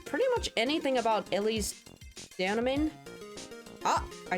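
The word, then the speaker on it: Deauxnim: We still don't know pretty much anything about Ellie's Danamin. Ah, I said I think I said her name right this time. I remember someone always pointing out that the X is silent. So damin uh don't know enough about her still.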